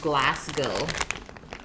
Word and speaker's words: Glasgow: It's pronounced Glasgow.